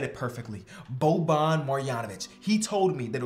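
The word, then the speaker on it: Boban Marjanović: name and he said you said it perfectly bo bon marianovic he told me that it was perfect so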